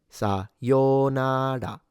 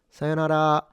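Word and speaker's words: さようなら: hear people say sayonara, sayonara, and there is a slightly more informal version with a shorter o, but for the full proper pronunciation is sayonara.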